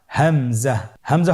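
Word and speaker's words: همزة: হামজা পরবর্তী হরফটির নাম হামজা হামজা হরফটি উচ্চারণের ক্ষেত্রেও বারিক করে উচ্চারণ করতে হবে এবং এখানে টেনে পড়া যাবে না দ্রুত পড়তে হবে আপনারা আমার সাথে বলুন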